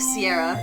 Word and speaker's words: Seairra: It's pronounced like Sierra. It's pronounced like the soda Sierra Mist or Sierra Nevada. Just like Sierra.